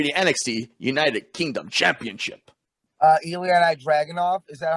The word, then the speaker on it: Ilya Dragunov: Ilya Dragunov, is that how you say it?